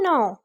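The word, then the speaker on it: know: जानना, जानने की इंग्लिश होती है नाउ। नाउ यहाँ पे केस साइलेंट है, उसके बाद सेकंड फॉर्म न्यू है और थर्ड फॉर्म नाउन है।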